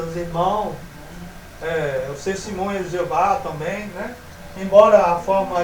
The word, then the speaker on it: Jeová: Ainda que mostra mais claro ainda que a pronúncia é essa mesmo, né? E não Yahvé, né?